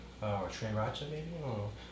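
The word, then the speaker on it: 3RACHA: 3 Raka, or is pronounced like the number 3 and then Racha from Sriracha. Some 3 Racha. Or Trey Racha maybe? Oh. Tree Racha.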